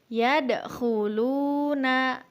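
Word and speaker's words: يَدْخُلُونَ: Selanjutnya, yadkhuluna. Huruf kha dibaca di pangkal tenggorokan.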